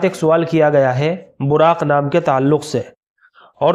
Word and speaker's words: براق: البتہ ایک لفظ آتا ہے براق، با کے اوپر زبر کے ساتھ اور پھر اس کے بعد جو ہے را کے اوپر تشدید کے ساتھ، براق، آخر میں بڑا قاف ہے براق، اس کے معنی ہے روشن، چمکدار.